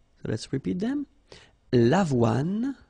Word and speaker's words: avoine: L'avoine, le blé, le maïs, le millet. So let's repeat them. L'avoine, remember, don't insist on the final E.